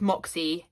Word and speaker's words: Mäksē: it's spelled like M-A-K-S-E, but the phrase is Moxie, M-O-X-I-E, which does help me to pronounce it a bit, though I really don't